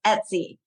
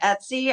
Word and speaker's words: Etsy: There's nothing in our brain that makes it easy to remember Etsy, other than maybe if you know someone named Betsy. Maybe that's how they say it. It's like Betsy without the B.